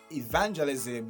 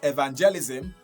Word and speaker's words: evangelism: Evangelism, not evangelism, like many other people do say.